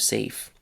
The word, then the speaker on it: safe: Also, English has letters that are not pronounced. The K at the beginning of knife, the A in the middle of read, or the E at the end of safe.